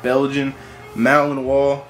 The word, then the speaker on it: Belgian Malinois: Belgian Malinois. That is how you pronounce it.